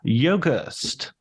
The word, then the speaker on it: Yogerst: And today I'm going to be talking to Yogast. How did I do? Did I nail the pronunciation?